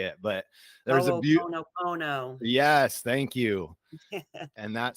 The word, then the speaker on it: Ho'oponopono: song called, man, I'm going to butcher this pronunciation. It's a Hawaiian word. Halapoano. Oh, man, I don't know how to say it, but there's a beautiful. Ho'oponopono.